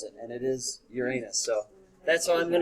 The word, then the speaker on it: Uranus: that's derived from the roman god the proper pronunciation is uranus uh the more modern scientists and every everybody